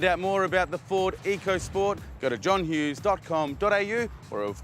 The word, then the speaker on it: EcoSport: not called the ford ecosport it's actually going to silent h in it so silent they don't even print it on the back of the car it's actually pronounced the ford echo sport so if you're looking